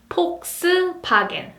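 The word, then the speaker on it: 폭스바겐: Volkswagen. Volkswagen. F becomes P sound, Volks, Volks, and V becomes B sound, Wagen, Wagen, Volkswagen. Volkswagen.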